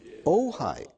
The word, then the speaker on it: Ojai: And the guy says, "It's a place called OJ." And I said, "How do you spell that?" He said, Ojai. Oh, Ojai.